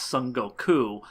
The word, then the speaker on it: Son Goku: let you know that his name is pronounced Sun Goku and not Sun Wukong.